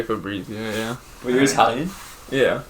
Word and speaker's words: Fabrizio: It's Matthew Hammond and Jaiden how do you say Fabrizio. So you Americanize it. Yeah. You don't say Brizio. No. Nobody in your family says Brizio.